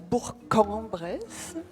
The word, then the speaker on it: Bourg-en-Bresse: de venir nous présenter Bourg-en-Bresse. Merci. Tout d'abord, petite rectification d'usage, on dit Bourg-en-Bresse, mais ça, il faut être du coin pour le savoir.